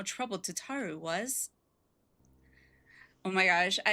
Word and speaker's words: Tataru: um he's still kind of playing catchup in MSQ, but um he always pronounces Tataru's name as Tataru.